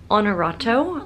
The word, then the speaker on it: Honorato: right i went to honorato like the word honor h-o-n-o-r-a-t-o and i had walked